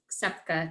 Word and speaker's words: Ksepka: Daniel Ksepka tonight.